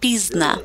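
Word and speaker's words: пізно: They say pozdna, which means late, and the Ukrainians pronounce it as pizna.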